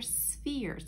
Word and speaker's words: sphere: okay so these are spheres so remember sphere is like the word fear like you're afraid of something fear but then we put the s sound at the beginning sphere sphere so we're going to